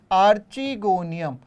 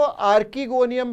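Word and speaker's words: archegonium: कहते हैं स्त्री धानी स्त्री धानी माने आर्ची गोनियम बहुत से लोग इसको आर्किगोनियम भी कह सकते हैं यह अपने अपने प्रोनाउंस एशन पर है आर्ची गोनियम और यहां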